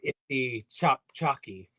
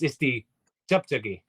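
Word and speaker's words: este-cvpcvke: Now he said he butchered it, but he said Isti Chop Chalky, which is how you might read it if you wrote it out in English, but it's Isti Chuptugi is the actual pronunciation, and that would be ESTE. And I always put a hyphen CVP CVKE.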